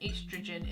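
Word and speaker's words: oestrogen: females, it's estrogen, and estrogen is one of those strange biology words that has a silent letter in it. So I know you say it estrogen, but there's an O in there as well.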